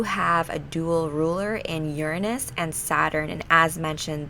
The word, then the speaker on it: Uranus: the zodiac uranus yes i pronounce it uranus not your anus but whatever you can